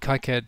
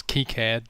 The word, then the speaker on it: KiCad: recently which is the high card tutorial I suppose really its key cared but I didn't know that's what the correct pronunciation was when I first started